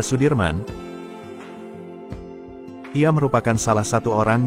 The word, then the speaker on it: Soedirman: dalam memperjuangkan kemerdekaan Indonesia Jenderal besar Sudirman menurut ejaan Suwandi dibaca Sudirman Ia merupakan salah satu